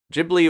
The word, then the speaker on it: Ghibli: Ghibli movie so okay Ghibli or Ghibli you can say either it's a Italian word with a Japanese pronunciation it's kind of gone through all these permutations so Ghibli is just how they the studio says it even though I think it would be Gippy okay we got our